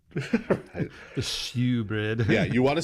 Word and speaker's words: shewbread: the table with the showbread often spelled with an e but it's still pronounced show bread the shewbread yeah you want to say shoe bread but that's not what